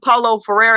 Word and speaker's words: Paulo Freire: I think Paulo Freire is how you pronounce his name, where he talks about the